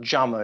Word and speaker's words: Jammer: That's spelled Jammer. It's a German word. J is pronounced as a Y.